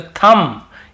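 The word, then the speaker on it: thumb: यहां पर भी बी को नहीं पढ़ना है तो थंब।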